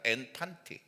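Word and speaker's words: ἐν παντί: 앤판티를 묵상하다가 어떻게 이것이 우리 생활에 젖어들 건가 딱 생각나는게 있더라고. 팬티더라고. 발음이 똑같아. 그냥 해도 돼. 앤 팬티 그래도 똑같아요.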